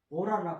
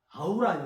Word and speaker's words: 아우라: 빨려 들어오고 형성이 돼 오라라 하잖아요 예 오라 오로라 아우라 요새 우리나라는음 발음이 오라가 아니라 아우라 그러데네 그 사람 아우라가 있다